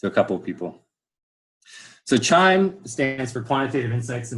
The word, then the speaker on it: QIIME: a couple people so chime stands for quantitative insights in microbial ecology it's pronounced chime but spelled Q IIM E it's an open source